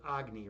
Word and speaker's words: Agni: I mean, my my name, you know, Agny, you know, I I pronounce it Agny, but you know, the ancient uh ancient Hindus, you know, they they would pronounce it Agny, right?